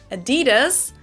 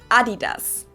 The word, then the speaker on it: Adidas: Because they usually pronounce it Adidas, and in Germany we say Adidas. Adidas, Adidas. Super different.